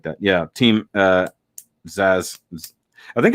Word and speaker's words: Zaz: Yeah, Team Zaz. I think it's Zaz. Technically, I think it's Z-A-Z or Z-A-A-Z, not A-Z-Z-A. At least in this one, that's how they say it.